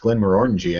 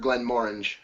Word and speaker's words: Glenmorangie: And today we're doing a double tasting of Glenmorangie. Or I've heard it pronounced Glenmorangie, actually, by some Scotsmen. So, I've also heard Glenmorangie.